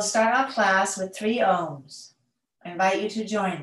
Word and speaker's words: om: in and out breath the first syllable is the ah sound so these sounds is a-u-m even though it comes out as o-m and it starts at